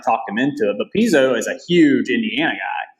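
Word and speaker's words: Pizzo: and Spa and Angelo I've heard it pronounced piso and then Piezo I think it's Piezo I think it's Piezo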